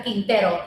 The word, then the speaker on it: Quintero: "My name is Quintero, Yes. and if you can't say it, just ask me how to pronounce it, and I'll help."